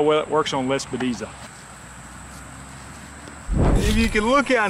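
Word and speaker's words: Lespedeza: be honest with you, but this is called Lespediza. Let me see if I can spell that. L-E-S-P-E-D-E-Z-A, Lespediza.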